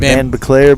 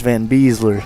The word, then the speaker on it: Van Beesler: The main one that gets me is on Colgan, the one that's it looks like Van Beclair, but it's Van Beesler.